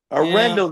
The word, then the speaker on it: Arendell: Is it Arendelle Street? Arendelle? Rendle Street. Arendo. Yeah, we we pronounce everything a little weird around here. Arindle. That's a Put that twang on it.